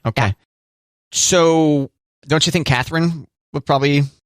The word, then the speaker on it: Catherine: not Catherine it's Catherine it's three syllables it's not Catherine it's Catherine Catherine Catherine yes so but what and you were saying it wrong because I said it fast Catherine yeah it's not Catherine Catherine Catherine gotta say all the syllables Catherine right I see